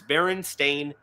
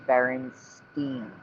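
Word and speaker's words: Berenstain: It's Baron Stain, which it's always been.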